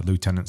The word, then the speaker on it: lieutenant: Lieutenant's American. If you're British, it's lieutenant. Lieutenant. Yeah, but there's no F in it, though. And actually, I think you'll probably find, if you consult like Webster's or Oxford English Dictionary, you'll find that both pronunciations are probably accepted.